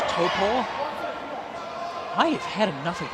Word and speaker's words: Taupo: It's pronounced Topor.